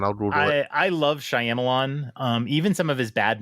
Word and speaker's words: Shyamalan: How does he pronounce the name? Shyamalan.